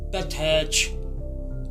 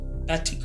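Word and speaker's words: פתח: ये अबरानी ज़बान का लफ्ज़ है और इसकी जो तलफ़्फ़ुज़ है वो है पैथैच। पैथिक नहीं है ये लफ्ज़, पैथैच मतलब इब्तिदा, तशरी, दाखिला, दरवाज़ा।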